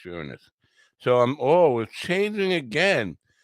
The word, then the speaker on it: Uranus: i am back anyways it's really pronounced uranus even though we like to say uranus it's pronounced uranus so i'm always changing